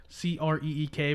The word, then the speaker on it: Creek: It's spelled creek, Creek, but we call it a creek. It's an Indian tribe. Really? The Creek tribe or the Crick tribe?